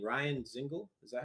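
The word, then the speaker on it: Dzingel: Ryan Zingle? Is that how you say it? I like his play style too. Yes. The Zingle? Do you add the D with him? No, it's silent. Zingle.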